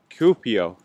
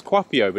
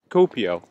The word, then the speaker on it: Kuopio: city cool up here cupio yes I've been saying it wrong thank you I thought it was coffee over it's cupio copio yes two up here fantastic thank you thank